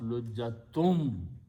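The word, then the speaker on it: لُجَّةً: Wa means and when the sound, waw is there, then you sound noon as noon hunna. So lujjatun will be pronounced lujjatum, idgham, but that's the tajweed.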